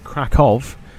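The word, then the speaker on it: Kraków: our flight down to cow or krackov depending on how you want to pronounce it I go for krackow fairly certain that's how they pronounce it but kov is just as good after I'm done this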